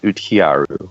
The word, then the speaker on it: Uhtcearu: of the band cuz it does not spell the way it sounds. Good call. It's um pronounced utiaru, but it's spelled u ht c e a r u.